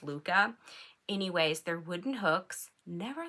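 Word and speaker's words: Lykke: It's spelled L-Y-K-K-E, and so I like to say likey, but it's actually pronounced Luca.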